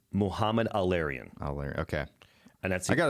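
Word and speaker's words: Mohamed El-Erian: I can reciprocate only because I've heard his name pronounced Please help so me. many times on Bloomberg. It's Muhammad Al-Arian.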